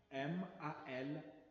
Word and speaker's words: mal: M-A-L, mal.